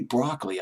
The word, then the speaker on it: Broccoli: think it's how you, Cubby Broccoli, I believe is how you pronounce his last name.